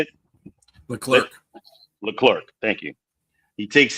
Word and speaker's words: Leclerc: Sonny takes out the third car in Charles Ledrick, or however you say this guy's name, in the Abu Dhabi. Yeah, how you say it? Leclerc.